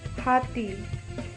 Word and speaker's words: hati: Elephant-HATI, Hati is the same as Hindi. We also called Hati.